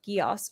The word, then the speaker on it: Geass: The second word is pronounced Gios. Rhymes with floss.